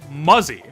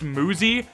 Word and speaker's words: Muzi: Later I found out it is pronounced Muzi, which would be fine if it was spelled with 2 O's instead of a U, but it isn't.